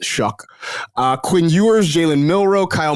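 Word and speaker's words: Shough: Um, so I got Jackson Dart in tier 2, Tyler Shuck, which if you have seen it spelled S H O U G H, it is pronounced Shuck.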